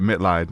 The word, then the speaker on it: Mitleid: I said it right, Mitleid, right? You did.